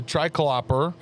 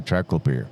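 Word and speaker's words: triclopyr: I use a triclopper. How do you say that? Triclopper. Triclopper, but it's actually tricopir.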